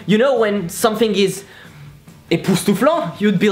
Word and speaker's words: époustouflant: So, époustouflant.